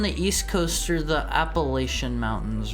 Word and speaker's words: Appalachia: Appalachia if you pronounce it phonetically. Appalachia. Southerners say Appalachia like right back at you. Appalachia. It's it's it's Appalachian, right? No. like latch.